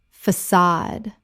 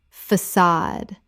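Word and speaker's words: façade: Facade. Common mispronunciation. Facade or facade. Correct pronunciation. Facade. The C with cedilla makes an S sound, and the stress is on the second syllable.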